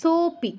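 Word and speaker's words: সোঽপি: soapy কেমন soapy নয় হ টা বাদ দিন সো সো সো আর পি সো পি মাঝে আর কোন কিছু উচ্চারণ হবে না সোপি সো ব্যাস হ্যাঁ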